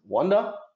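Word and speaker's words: Quandl: Here it's from Wanda, O&A. I like to pronounce it Wanda.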